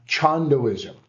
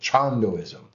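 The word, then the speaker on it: Cheondoism: Chandoism. Did I say that right? You said it right. Cool. Chandoism.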